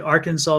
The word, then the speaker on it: Arkansas: Mars said Arkansas does not sound as it's spelled.